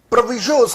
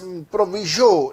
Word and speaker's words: proviso: इसे बहुत सारे लोग प्रोनाउंस करते हैं प्रोवाइजो, तो आप प्रोवाइजो प्रोनाउंस कर लीजिए या प्रोविजो प्रोनाउंस कर लीजिए, बात एक ही है, उनके अंदर फर्क नहीं है।